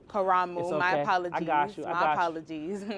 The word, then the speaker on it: Karamu: It's pronounced Kuramu. Kuramu.